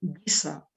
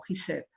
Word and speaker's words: Giza: Meidón, de Dashur y también de Giza, como le llaman los árabes a este lugar. En español estamos acostumbrados a pronunciar como Gizeh, es el mismo lugar.